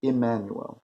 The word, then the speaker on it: Immanuel: you must know that my name was Emanuel pronounced as an i as an Emanuel you must know you